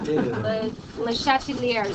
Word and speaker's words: Le Chatelier: Le Chat, it's not chats. Le Chatelier's principle. It doesn't really matter as long as you know what your principle is.